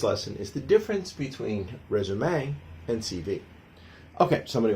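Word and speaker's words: résumé: The word resume you know pronounced the French way (rez-oo-me) derives directly from the past participle of the French verb "resumer" which meant to sum up.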